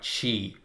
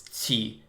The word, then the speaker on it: qi: It's a very much a thing to believe in, which I think when you're talking about chi, or if I want to pronounce it, it's qi.